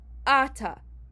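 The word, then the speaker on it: אתה: There is a vertical line on the Aleph, which means that you pronounce it Ata. However, normally the word Ata is like normal Hebrew pronunciation, and it happens on the last syllable.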